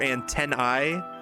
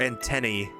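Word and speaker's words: antennae: Antenna for singular and for the plural either antenni. If you want to honor the Latin root or antenny to be more in line with anglicized pronunciation.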